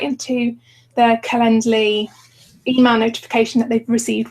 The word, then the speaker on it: Calendly: from happening i use calendly say it right calendly which is just ten dollars a month um